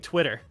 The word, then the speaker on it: Twitter: really fun fact is we don't pronounce our T's if they're in the middle of words we use D's like even we've been saying Twitter it's Twitter Twitter but like we're saying Twitter Twitter you know a bottle